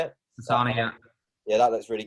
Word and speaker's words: Asana: Asana, yeah.